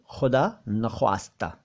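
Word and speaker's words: ख़ुदा नख़्वास्ता: लेकिन इसको खुदा ना खास्ता या खुदा ना खास्ता कह देते हैं। खास्ता नहीं है, खास्ता भी नहीं है, और खुदा तो वाकई है ही नहीं। खुदा शब्द है खुदा नख्वास्ता, खुदा नख्वास्ता, ठीक है, खुदा नख्वास्ता यानी खुदा ना करे, ईश्वर ना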